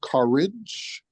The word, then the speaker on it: CUREJ: And he's gifted us today with introducing us to Matt Lowe, who is the founder of CUREJ, which is pronounced Courage, which is an organization that organizes faith-centric communities in an effort to make reparations.